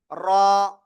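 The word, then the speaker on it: راء: আবারও লিখি, এই যে অক্ষরটা, এই অক্ষরের নাম র। র, র, জিহ্বার আগার পিঠ তার বরাবর উপরে তালুর সাথে লাগিয়ে এক আলিফটা নিয়ে উচ্চারণ করতে হবে।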